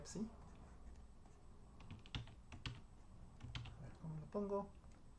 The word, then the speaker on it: psi: Sea o para cada d divisor de p-1, definimos phi de d, psi de d, perdón, psi de d, se pronuncia psi.